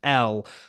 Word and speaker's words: Elle: Firstly, like you mentioned that, you know, Caroline, when she comes in, says Ellie straight away, and her name is spelled Elle, which would obviously usually be pronounced L.